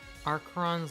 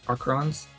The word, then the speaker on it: Arkheron: Aron's library. Yes, that is spelled A R K H E R O N.